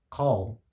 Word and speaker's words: call: Primeiro porque call, como se percebe pela própria pronúncia, não soa natural no português. Porque a maneira como a gente pronuncia o L em inglês é totalmente diferente.